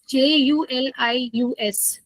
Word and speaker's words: Julius.ai: Julius J U L I U S Julius.ai. Somebody asked me to spell it. So uh yeah, so it's Julius like Julius Caesar.